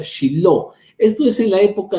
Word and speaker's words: Shiloh: 369 años en Silo, que en hebreo se pronuncia Shiloh.